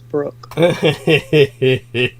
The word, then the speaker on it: Brooke: beauty I I don't know how you can't pronounce my name but it's Brooke adorable go on uh honey and if you're